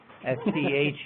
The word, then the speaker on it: Schuette: from yesterday and also teach us how to pronounce S-C-H-U-E-T-T-E?